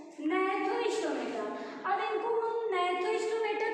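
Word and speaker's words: Gnathostomata: एने था सेकंड है स्पेलिंग देखिए जी से जी से स्टार्ट है जी साइलेंट है इसको हम पढ़ेंगे नथो स्टोमेटा अब दोनों में डिफरेंस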